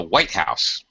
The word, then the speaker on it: White House: president president okay better lives in the White House High Low Liv in the white house that's better all right okay second one